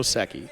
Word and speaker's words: Secchi: how to find it no it's not like s e Ki or something like that s e c CI it's Italian Angelo SEI yes we got you